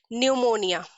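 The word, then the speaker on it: pneumonia: Okay, and similarly न्यूमोनिया। न्यूमोनिया एक respiratory disease होती है, लंग्स की डिजीज होती है, राइट? इसमें भी हम पी को साइलेंट रखते हैं, वी डोंट प्रोनाउंस पी।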